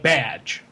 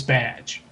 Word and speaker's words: Baz: that baz has is his name sounds like badge oh that's a good idea so right there there so we now know how to pronounce his name it's badge i i think there